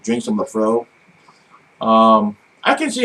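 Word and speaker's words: Laphroaig: I suggest I suggest before you buy a bottle of Lafro or Lafrog or whatever it is, whether you want to pronounce it incorrectly or correctly, I don't even know how it's spelled.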